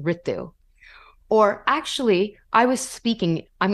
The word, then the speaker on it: Ritu: way or excuse me my name is pronounced Ritu or actually I was